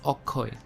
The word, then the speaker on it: Akshay: deepika and awkward so instead of saying akshay he says okoy as you see bengali